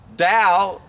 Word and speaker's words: Tao: Tao, pronounced D-O-W, spelled T-A-O, meaning the way, for those who aren't familiar with that word.